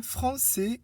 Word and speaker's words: français: La cédille indique que le C se prononce S et non K. Exemple, français, garçon.